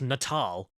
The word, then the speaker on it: Natal: Oh wait, it's pronounced Natal.